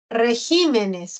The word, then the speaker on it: regímenes: Régimen. Es esdrújula. Se tilda. ¿Ah? Regímenes. Vemos que ahí el acento se ha desplazado a la sílaba G. Una cosa es régimen en singular y otra cosa es regímenes en plural.